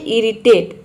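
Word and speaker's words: irritate: आ रहा है तो आई के बाद अगर डबल आर आ जाता है तो वहां पे आपको आई को ई प्रोनाउंस करना है ऑ प्रोनाउंस नहीं करना है जैसे कि इरिटेट इरिटेट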